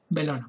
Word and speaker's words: Bellona: Y además construyó el templo de Belona, o Bellona, se escribe Bellona, se pronuncia Belona.